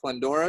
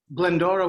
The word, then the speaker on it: Glendora: you mentioned apu uh was it pandora is that how you say it glendora with a g oh glenn i don't